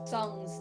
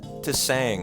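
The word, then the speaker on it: Tseng: How do I pronounce it? To sang. I literally say the T. I'm so awful. I know. I'm going to try to be better. I know. It is Sung.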